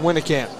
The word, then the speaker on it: Winnekamp: Pronounced Winnekamp. We'll make sure to get it right from now on. That was my not my first intuition, so I'm glad to be corrected.